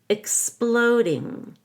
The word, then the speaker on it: exploding: and an ER Force exploding the X in exploding is a k s don't forget the K and the s with Jackhammer Force exploding